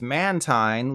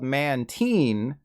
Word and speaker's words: Mantine: anyways any sane person would call this Mantine like the tines on a fork after all it's that kite Pokemon not the key Pokemon but good old Pokemon company says this is officially called Mantine as in the last time in my life I felt happiness was when I was a teen now we come to